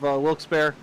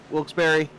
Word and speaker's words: Wilkes-Barre: sponsoring tonight's race yeah there's multiple pronunciations there we have Wilkes-Barre Wilkes-Barre uh but whatever you said